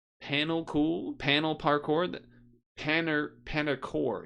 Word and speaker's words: Panerkour: So that was that was panel cool panel parkour panner paner core is technically how it's spelled in the URL p a n e r k o ur r a play on panel and parkour how about for that